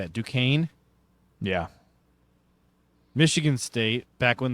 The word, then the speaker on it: Duquesne: Duquesne, yeah.